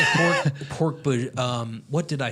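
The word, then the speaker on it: Hork-Bajir: Although I will say I didn't soften that J in Hork Bajir for the longest time. It's Hork Bajir, right? What would you say? Hork Badger. I would say Hork Bajir.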